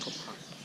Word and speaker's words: Coba: Then was Coba. Coba is the second oldest in the city. But in our language today, Mayan Yucateco, that's pronounced Coba.